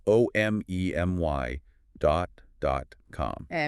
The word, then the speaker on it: omemy: That's spelled o m e m y dot dot com.